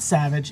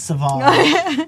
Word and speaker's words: Sauvage: your blood smell like Sauvage, I would take it. Because that's what I put on this morning, Sauvage. Sauvage. It's called, no, it's not Savage, it's Sauvage.